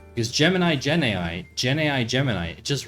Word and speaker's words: Gemini: Gen AI product called Gemini, which rhymes with Gen AI, and I think that's why they named it Gemini, because Gemini, Gen AI, Gemini, it just rolls off the tongue.